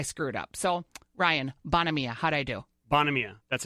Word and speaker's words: Buonamia: Buonamore. Buonamia is really Bonamia.